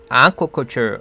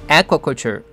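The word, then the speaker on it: aquaculture: 이라는 뜻도 가지게 되는겁니다 발음은 스트레스가 앞에 있고 아 할 때 장 모 음 2 줘 그래서 않고 컷 율 라고 하시면 됩니다 여기서 들려주는 원어민 도 아코 컴퓨 라고 발음 햇죠 어떤 사람들은 에코 컬 줄 라고도 하는데 이때에는 에 가고 짧게 스트레스가 좋아합니다 그래서 에어 컬 줄 에콜 줄 라고 하면 되는 거죠 팝업 acm 한 지역에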